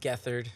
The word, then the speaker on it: Gethard: It is pronounced Gethard.